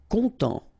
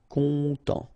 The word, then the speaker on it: content: Content. Final T not pronounced. So E-N. En as well. Content.